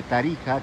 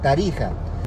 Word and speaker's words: Tarija: actual, es decir, que se escribía con la X, pero se pronunciaba como la J. México, Texas, Tarija.